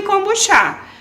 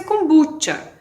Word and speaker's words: kombucha: E tem uma coisa até com essa palavra, se é kombucha, kombucha, kombuchá, depende. No Rio, os cariocas chamam de kombuchá. Fora do Brasil, pronuncia kombucha. Eu chamo kombucha.